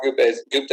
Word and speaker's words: Gupta: Gupta, is that how you pronounce it?